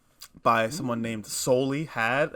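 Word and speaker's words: Souly Had: not by someone named soli had it's spelled s-o-u-l-y like soul-e had and then uh mac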